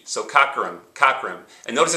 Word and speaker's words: Cockerham: Notice I put the soft O at the beginning, cock, and then cur.